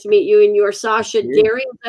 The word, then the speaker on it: Sascha Deri: It's very nice to meet you, and you're Sascha Deri, is that how you say it? Sascha Deri, CEO of Blueshift Aerospace.